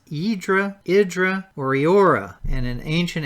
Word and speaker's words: Hydra: And by the way, it looks like it's pronounced Hydra, but that is pronounced Hydra, Idra, or Iora.